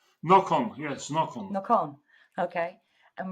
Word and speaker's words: Nocon: Well, welcome, Hillshire Media author Nocon, or is that how it's pronounced, Nocon? Nocon, yes, Nocon.